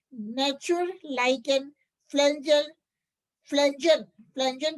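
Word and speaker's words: Pflanzen: like an फजल फजन फजन की spelling बोल रही हूं पी साइलेंट है पी एफ एल ए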